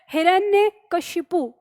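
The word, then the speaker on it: हिरण्यकशिपु: में रखना है की शब्द है हमारा हिरण्य ठीक है ऐसे याद रखिए हिरण ने और फिर के शिपु इस तरह से याद रखना है तो हिरण ने के शिपु अब ये भी चीज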